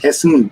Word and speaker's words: Hessen: So the state I am from is called Hessen. Yes. You would call it Hesse, but it's actually pronounced Hessen. There's an N at the end.